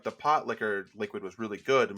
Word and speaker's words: pot liquor: Um, Lana does like a It's pronounced pot liquor, right? Yes. Okay. It was confusing me. Not pot sticker.